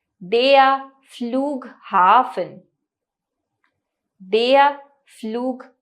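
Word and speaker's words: Flughafen: hotel ताज hotel इसके बाद आता है देया फ्लूग हाफ देया फ्लू हा फन यानी कि एयरपोर्ट अथवा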